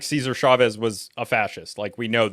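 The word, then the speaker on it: Chávez: Cesar Chavez, not Caesar. Sorry. Yeah. I had to do that.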